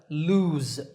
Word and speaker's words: lose: I don't lose it notice that the last sound in this word is Z lose another meaning is to